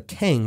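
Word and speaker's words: cangue: or even weeks in what's called a keng, which was this heavy wooden collar that criminals had to wear around their necks. This is worth a Google. It's spelled C-A-N-G-U-E.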